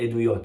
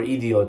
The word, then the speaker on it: Eduyot: In Masechet Eduyot. Okay? Or Idiot, or it depends how you want to pronounce that one.